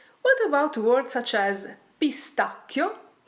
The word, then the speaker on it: pistacchio: What about words such as PISTACCHIO? The sound is hard here, thanks to the ACCA.